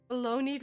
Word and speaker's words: baloney: Baloney rhymes with pony.